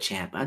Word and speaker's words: Ciampa: named toaso Champa Champa I'm gonna go with Champa that's the right way to pronounce it um oh there was